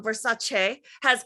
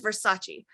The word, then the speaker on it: Versace: Versace she just did a thing too. And she was like, they were like, what is your pet peeve? And she goes, everyone says Versace.